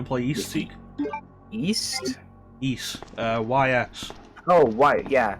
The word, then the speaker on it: Ys: East. YS. Oh, why? Yeah, wise. No, it's pronounced East.